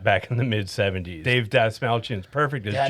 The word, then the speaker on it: Dastmalchian: Dave Dastmalchian's perfect as Jack. Dastmalchian, that's how you say it.